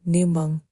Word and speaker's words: 檸檬: The Chinese word for lemon, "níngméng" "níngméng" contains the character "méng" "méng" which shares the same pronunciation as the "míng" "míng" in You Minglong's name.